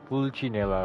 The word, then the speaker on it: Pulcinella: So it's pronounced as Pulcinella, okay?